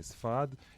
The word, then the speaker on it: Sepharad: culture, and that all the Sepharda, I can't pronounce it. Huh. Sepharad means Spain. Right, exactly. Sepharad.